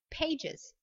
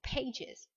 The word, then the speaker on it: pages: je vous rappelle que les terminaisons plurielles se prononcent, le pluriel se prononce, et bien on a l'impression d'avoir une extraillabe, une syllabe supplémentaire et donc on dira pages.